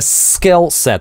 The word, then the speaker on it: skillset: With a skillset - обратите внимание, какое напряженное, интенсивно это /s/, ssskillset. Т.е. оно звучит не как в русском слове "собой", а как в русском "с собой", как русское двойное "с".